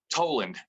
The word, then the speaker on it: Toland: last name correctly yeah how do they pronounce it toland like toll booth right i get tall and like you know tall a lot so much right that's